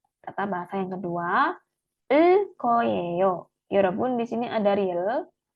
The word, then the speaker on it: 을 거예요: Tata bahasa yang kedua, 을 거예요. Yorobun di sini ada real, ketemu huruf G, real ketemu huruf G, maka bacim L ketemu G, G-nya dilafalkannya double ya.